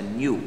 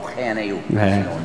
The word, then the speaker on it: GNU: La palabra que se escribe GNU, en castellano se pronuncia new. Bien, no GNU, new.